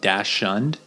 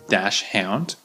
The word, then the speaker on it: dachshund: So that's important word there, the Dachshund, because when you look at it, it looks like Dachshund, and maybe they do call it that in German or another language. I'm not sure, but in English, it's usually pronounced Dachshund.